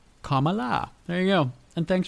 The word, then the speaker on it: Kamala: Comma, like the punctuation, and la, Kamala.